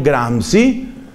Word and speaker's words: Gramsci: Pero entonces, ya esta historia me la han oído algunos, viene un ideólogo de izquierda italiano llamado Antonio Gramsci. Se escribe G-R-A-M-S-C-I.